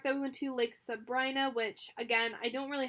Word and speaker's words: Sabrina: I didn't go kayaking, but we did go to Lake Sabrina. You would think it's called, or pronounced Sabrina, but it's Sabrina.